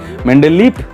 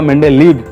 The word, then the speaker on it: Mendeleev: मेंडेलीफ बा मेंडेलीव भ मध्य कोटी कोटी भी लिखा जाए कहीं इंग्लिश स्पेलिंग रे तांकर भी रोची। तो भ उच्चारण कले चलो कि ओडिया रे सेटा फ उच्चारण हेले भी किसी असुविधा ना।